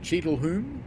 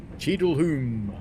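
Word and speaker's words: Cheadle Hulme: Cheadleholm?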